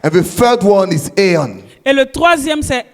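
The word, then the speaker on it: aion: And the third one is aeon. Et le troisième, c'est aeon.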